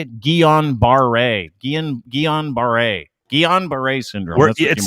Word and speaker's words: Guillain-Barré: Pretty sure you may have, I don't even know how you say it, Guillain-Barré syndrome? Yeah. Guillain-Barré syndrome?